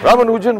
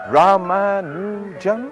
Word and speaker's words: Ramanujan: English were having some problem pronouncing his name correctly and they would say um Ramman Raman's life should be